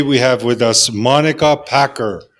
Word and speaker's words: Packer: to pronounce no I I get a lot of Parker Packard and all sorts of random things so you did it